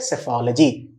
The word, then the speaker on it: psephology: उसको हम बोलते हैं सेफोलॉजी, PSEPHOLOGY, सेफोलॉजी, ठीक है।